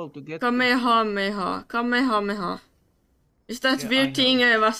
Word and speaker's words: Kamehameha: Kamakameha. Kamehameha. Kamehameha. Is that weird thing I was trying to pronounce another day?